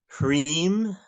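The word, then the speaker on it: ह्रीं: So the mantra is pronounced Hreem, Shreem, Kleem, Parameshvari, Svaha.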